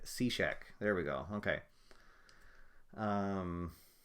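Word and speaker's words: Cishek: Somebody uh Dave just told me the pron correct pronunciation for the closer is Steve Cashek.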